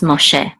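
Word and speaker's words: משה: more share and okay this is Moses in English and Hebrew it's Moshe and this is Allah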